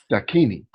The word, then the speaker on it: Dakini: Now, it says you are a certified Dakini. Did I pronounce that correctly? Yes, you did.